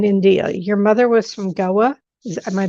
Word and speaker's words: Goa: Your mother was from Goa. Am I pronouncing it right? Goa?